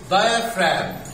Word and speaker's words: diaphragm: مش ملاحظين حاجة هنا في الكلمة؟ الجي سايلنت ما طلعتش. الجي سايلنت، اوكي برافو يا هند. ها البي اتش مش نطقت فيها. فاهم، نطقت فاهم، برافو عليك، دي نطقت فاهم. نقول diaphragm. diaphragm. اوكي.